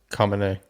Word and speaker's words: Khamenei: Khamenei, you remember how to pronounce it? Yeah, it's Khamenei. Khamenei, there you go.